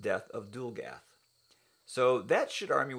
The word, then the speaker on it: Dulgath: on that very soon, that book would be pronounced Death of Dulgath.